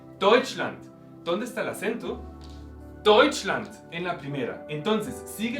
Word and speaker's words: Deutschland: Deutschland en la primera. Entonces, sigue la misma regla. Si tenemos una palabra alemana normal y corriente, en este caso pronunciamos siempre, ponemos el acento en la primera sílaba.